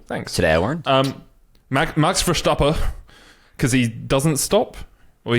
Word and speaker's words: Verstappen: You don't pronounce the N? No, usually like in Dutch, when there's an N at the end of the word, you don't say it.